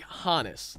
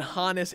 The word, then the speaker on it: Honus: me to believe that if Hans evolved to Hannes that's how you pronounce it you know Hans Hannes I feel like that just leads me to believe that Hannes is the correct way